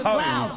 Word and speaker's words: Hove: Pronounce Hove, H-O-V-E. Why is Love pronounced Love?